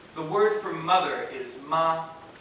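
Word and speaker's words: 马: on the other hand if you pronounce ma with a parabolic curve in The Vow sound so that your voice starts high and dips down before returning to the starting pitch it means horse there are few sentences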